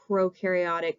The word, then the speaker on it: prokaryotic: sisters like to say Pro rhymes with no so no nucleus in our prokaryotic cells and so our